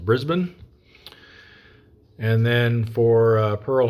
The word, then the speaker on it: Brisbane: thing here at uh Brisbane I was mispronouncing that last episode my apologies to any Australians that might be watching found out that that's actually pronounced Brisbane and then for uh